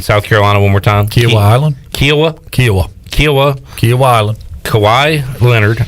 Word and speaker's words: Kiawah Island: got hv3 on the course how do you pronounce the uh the place in south carolina one more time kiawah island kiawah kiawah kiawah kawhi leonard island it is